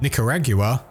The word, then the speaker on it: Nicaragua: Costa Rica, Guatemala, Honduras, Nicaragua, which is the British way of pronouncing it by the way, Peru, and Venezuela.